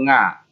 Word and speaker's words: NGA: Perhatikan anak-anak, ini membacanya bukan nya atau nga, tapi per huruf NGA, NGA.